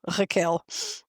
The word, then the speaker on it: Raquel: Also, Raquel, it's pronounced differently because it's Portuguese, so it's kind of Raquel.